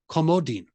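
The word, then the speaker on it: comodín: Card round in Spanish which is comodin emphasis on the last vowel on the eye there you go there's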